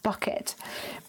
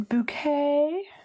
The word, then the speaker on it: Bucket: highly of herself but her surname was spelt B you see Katie and for those of you who need assistance at this late hour that spelled bucket but if she would pronounce in bouquet mmm and she would